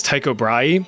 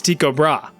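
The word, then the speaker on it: Tycho Brahe: the life of me, I really want to pronounce this guy's name is Taiko Bry, but apparently the proper Danish pronunciation is Tiko Bra. Like, listen to this. Tigra, person saying this doesn't even sound confident in their own pronunciation.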